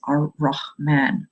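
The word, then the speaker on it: Rahman: for all things and the name of that in the um in the Arabic language is rman rman um in the alliteration is spelled r a m n r man The Sun Shines on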